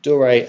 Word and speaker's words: Doré: So, uh, Dor, I think it's pronounced Dor, excuse me, Doré and and Gerald.